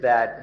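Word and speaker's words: ธาตุ: Now we'll consider what it is that has been borrowed. according to the Buddha's teaching, what we have borrowed are elements. The Pali word is dhatu. In Thai it's pronounced tha, which can be translated as natural elements.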